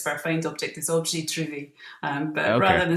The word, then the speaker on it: objet trouvé: Yeah, the French terminology used by artists for a found object is objet trouvé, but Okay, rather than spell it French, I just spell it as if it was Scottish.